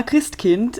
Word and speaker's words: Christkind: it is well yeah Krist Kint is the way that it's pronounced so Kint like Kinder you know Kinder Garden